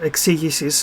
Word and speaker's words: exegesis: went into a detailed exegesis to use my own language excuses if you're going to pronounce it let's pronounce it properly your gob sheets exegesis right explanation that's all